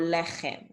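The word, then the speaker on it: לחם: The ch sound is not native to Hebrew. So whenever you see C and H, you're pronouncing it as ch, like baruch or lechem, okay?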